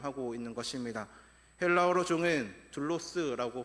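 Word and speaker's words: δοῦλος: 헬라어로 종은 둘로스라고 발음을 하는데 바울은 본문에서이 단어를 반복적으로 사용을 하면서 인간에게는 중립 지대가 없다라고 지금 말을 하고 있습니다.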